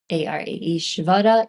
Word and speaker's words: Ishvara: Sometimes it's Ishwara or Vara, Ishvara, Ishwara. The interesting thing here is in Devanagari, which is the Sanskrit alphabet, it's a syllabary.